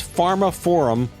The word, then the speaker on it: Pharmaphorum: That's Pharma Forum. They spell it weird. P H A R M A P H O R U M. Pharma Forum.